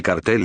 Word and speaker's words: cartel: El Cartel de Cali o Cártel de Cali, pronunciación según dialecto del castellano, fue el nombre dado